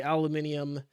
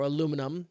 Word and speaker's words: aluminium: if you're american and don't you ever say aluminum like that again aluminium i i say it like that because that's how i have to remember how to spell it that's literally how like